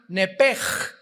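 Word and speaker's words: נפש: en el hebreo es nepesh, se pronuncia nepej. La ch en hebreo se pronuncia como J.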